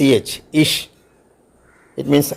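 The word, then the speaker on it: ich: as shore Shah for example I സി എച്ച് ഇഷ് it means I ഓർ ബി you Lord C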